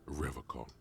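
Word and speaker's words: Revachol: forever call he pronounces rivercon with a hard K unlike other people I have a call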